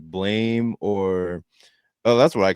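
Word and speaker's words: Blame!: Like the sound effect, like blam.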